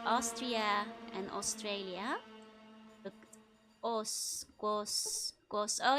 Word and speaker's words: Austria: Yeah, I never thought of the fact, like, Austria is pronounced with an O. Austria.